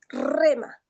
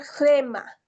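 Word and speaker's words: ῥῆμα: Y ya no vamos a pronunciar rema, vamos a pronunciar gema más eh más más pronunciado la gema. Entonces es como que va suprimiendo esta consonante y en la pronunciación va a ser gemma, ya no rema.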